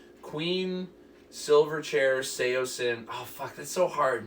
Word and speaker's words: Saosin: Yo, I hate to ruin everyone's night, but this band's name is pronounced Saosin, and I have proof.